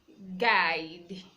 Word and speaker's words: guide: have guests guests Rajee is silence we have guide guide the G is also sorry to you